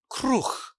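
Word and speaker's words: kruh: And my dad said, "It's Kr. I'll spell it for you today. K R U H Kr." And I went, "Oh, cool. Krue."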